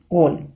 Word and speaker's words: gol: чоловічий рід хель і голь Отже правило таке літера х читається майже як українська х перед голосними е та і А перед голосними а у у вона читається як г Друзі а тепер давайте